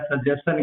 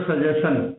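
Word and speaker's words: suggestion: Meaning है सजेशन की, आप इसको पढ़ते हो सजेशन, जो कि गलत है। इसका सही उच्चारण है सजेशन। अगर TI के बाद में S आया हुआ है तो इस S और TI दोनों का मिल करके सच उच्चारण होता है, यह है सजेशन, यह है क्वेश्चन।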